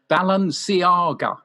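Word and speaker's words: Balenciaga: want to nominate designer shoe manufa who i pronounce is right the knight designer shoe manufacturer balon siaga who have offered fans a closer look at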